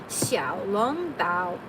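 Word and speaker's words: xiaolongbao: Oh, it's xiao long bao. Xiao long bao. That's how you'd say it.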